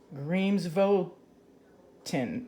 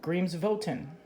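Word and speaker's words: Grímsvötn: mountains deep under thick ice so here's another pronunciation Dreams vote tin dreams volton dreams of Wilton Iceland's most frequently active volcano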